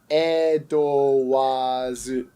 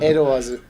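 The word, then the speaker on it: エドワーズ: Edowazu. It's elongated. It elongates the wa. So it's Edowazu.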